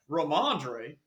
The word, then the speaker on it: Ramondre: Ramondre.